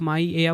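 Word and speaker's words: Maia: माया spelling है एम ए आई ए। ठीक है? इसे आप माय एया बोल लो या माया बोल लो।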